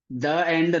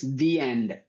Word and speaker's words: the: No it's not the it's the end. You can remember in that way when to say the when to say the you can just recall this in movies. Lastly the end not the end. the end because e is sounding like fine you know a a a sound and end a a sound employee same sound at same sound apple a same sound